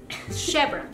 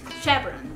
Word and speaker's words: Chevron: Alex porque mis hijas no saben cómo se pronuncia Okay Chon chevon Chevron Chevron Okay esa es una estación de gas es